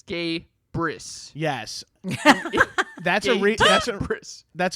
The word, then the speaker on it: Gabrus: whatever your name is is gabris and then in parentheses it's gay briss yes that's a that's